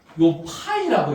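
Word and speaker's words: Φ: 유도 전류가 세 번째요 파이라고 읽어 얘들아 파이 파이라고 읽어 그니까 요거 얘들아 공집합이라 읽지 말고 델타 이거 델타 파이파 파이 선생님 얘도 파이 아닌가요?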